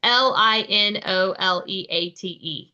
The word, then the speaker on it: linoleate: Linololate, linololate. I don't know how you say it. It's Linoleate.